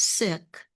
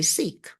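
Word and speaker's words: Sikh: Also, there's a large sick population and I'm saying it as sick because I went to the city council meeting Tuesday night and the siks I used to say sik but the six were there and they pronounced it sik.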